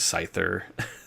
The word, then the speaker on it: Scyther: not Lu Jia and sky thir yeah I said that wrong is Scyther you didn't know anybody